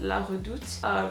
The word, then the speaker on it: La Redoute: really cool website called La Redoute. It's like a French name, that's why I pronounce it that way.